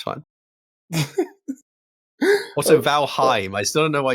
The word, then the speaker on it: Valheim: back and forth yeah so it's very much pronounced the way you say it and the way it's supposed to be said um valheim but who knows maybe